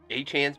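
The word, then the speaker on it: Achane: I like Achan.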